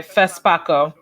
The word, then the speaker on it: FESPACO: and Television Festival of, can you help me pronounce this? Where is this? FESPACO. Okay, FESPACO.